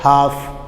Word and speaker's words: half: जैसे कि हम कहते हैं हाफ, अब हाफ HALF, जबकि उसमें एल की आवाज़ नहीं आ रही, आप कह रहे हैं हाफ HAF, तो ये क्या है, ये हमारे पास साइलेंट लेटर है। कौन सा है, एल क्या है, साइलेंट लेटर।